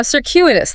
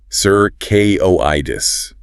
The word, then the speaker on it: circuitous: Now, circuitous, that one sounds fun to say. It is. Circuitous. Stress on the second syllable. The first C is like S, and that Q is like circuitous.